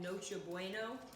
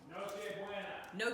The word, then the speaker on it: Noche Buena: They do a thing called Noche Bueno. Noche Buena. Noche Buena. I said it right.